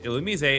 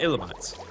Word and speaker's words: Illumise: And one of the things that I brought up was the pronunciation of Illumise, because it's Illumise and not Illumise.